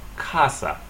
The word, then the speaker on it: casa: stress in Spanish um take any word that ends in a vowel in or s in Spanish you stress the next to the last syllable so here's